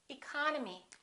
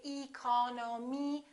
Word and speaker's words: economy: did with these words look at the first word economy the second syllable is stressed therefore this e and this o are reduced we don't say II call no me we say economy economy look at this